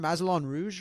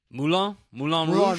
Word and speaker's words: Moulin Rouge: Mazelon Rouge, or how do you say it? Do you know how to say it? Moulin Moulin Rouge.